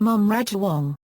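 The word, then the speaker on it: Mom Rajawongse: of male mom Chow the title is pronounced mom Raj Wong informally they may be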